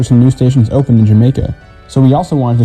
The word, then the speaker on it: Jamaica: As a result, the Y sound was eventually replaced with the J sound, which is how the neighborhood ended up being pronounced Jamaica like the island.